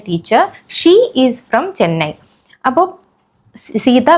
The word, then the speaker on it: je: pronounce എന്ന് നമുക്ക് നോക്കാം ഷ മീൻസ് ഐ ഇത് ജെ എന്ന് വായിക്കരുത് ഷ ഓക്കേ ഴ മീൻസ് ഐ